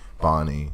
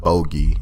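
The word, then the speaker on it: Bonney: respected enough to say okay yeah Bonnie Bonnie not Bogey and all that but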